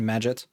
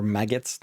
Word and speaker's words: Magit: This is a transient menu, like in Magit, or Magit, depending on how you want to pronounce that.